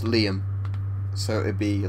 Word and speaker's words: Liam: your name but yes Liam as in like Lee yeah it's actually shot for William so weirdly although it's an abbreviation of William you pronounce it like Liam yeah very strange isn't